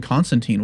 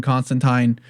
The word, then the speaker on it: Constantine: I spent my whole life calling him Constantine, because that's what he's supposed to be. It's because his title rhymes with fine, that's his name.